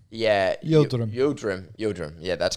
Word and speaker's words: Yildirim: I can't pronounce his first name that well, but it's just Yildirim. Yeah, Yildirim.